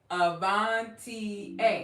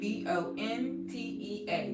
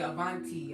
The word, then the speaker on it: Avantea: This is how you pronounce my name, Avantea, Avontea. Now, yes, when you spell it out, it kind of, you want to say Avanti, I get it, but it's Avantea.